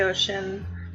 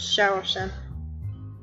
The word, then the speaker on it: Xiao Qin: say this wrong it's Xiao Qin I usually pronounce it to say ocean cuz that's how it's spelled but it's supposed to be pronounced shower chef and I found them